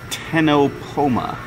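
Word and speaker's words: Ctenopoma: Actually, I think it's pronounced tenopoma. sea is probably silent.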